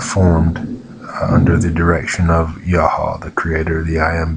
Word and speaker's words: Yahweh: They worshipped other gods other than the one original deity of Moses, which would have been Yahweh, 2 syllables.